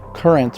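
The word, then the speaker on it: QRNT: So, check out the current that's pronounced current, but spelled Q R N T and it's from my good friends and our new partner Kayla.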